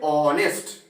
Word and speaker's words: honest: We say honest. So here o is vowel sound. Okay? And H is silent.